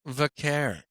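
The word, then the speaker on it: Vaquer: It's Vacquer. I know, but even other WWE wrestlers She struggle. says it herself. You got to assume she can say her own Vacquer. name. Stephanie Vacquer. Vacquer.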